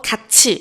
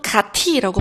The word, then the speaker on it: 같이: 자, 그래서 가치. 요것도 가티라고 발음하지 않고 가치로 하잖아요.